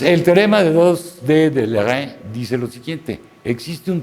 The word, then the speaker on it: Leray: Bueno, ahora vámonos con Monsieur Leray, se pronuncia Leray en francés.